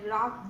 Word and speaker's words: wrath: I told it not, my wrath did grow. Okay, you have to read it as wrath. Okay, W-R-A-T-H. W-R-A-T-H is pronounced as wrath.